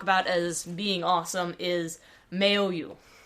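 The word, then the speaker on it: Maoyu: And the third one I want to talk about as being awesome is Mayo. At least I think that's the pron correct pronunciation. M A O Y U.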